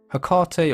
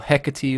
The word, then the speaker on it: Hecate: been neglected or abandoned hekate or hecate or however you would like to refer to her as is an interesting figure